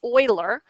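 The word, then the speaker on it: Euler: his name is Oiler that looks like uler but it's pronounced Oiler oil's constant is e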